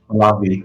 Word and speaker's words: Pahlavi: Is it pronounced Pahlavi, Hubbard? Yeah, Palavi, Palavi.